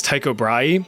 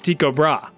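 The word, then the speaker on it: Tycho Brahe: the life of me, I really want to pronounce this guy's name is Tao Bry, but apparently the proper Danish pronunciation is Tiko Bra. Like, listen to this. Tobra Tobra.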